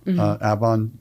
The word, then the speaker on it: Avon: Avon, yeah, Avon by the sea.